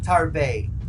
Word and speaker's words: Tarbes: So going back to what we were discussing, it's pronounced in French as Tarbes.